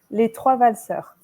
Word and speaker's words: Les Trois Valseurs: Can you pronounce it again for me so I remember how to say it? Les Trois Valseurs.